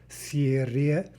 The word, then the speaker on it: серебряная: Серебряная, right? So that third syllable is more like bre, серебряная, серебряная.